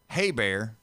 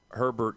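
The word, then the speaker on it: Hebert: And Bobby Haybear. It's it's it's spelled Heert, so it's missing a R. It's not Herbert. It's H E, not H. Why is the why is the H silent? Because it's French.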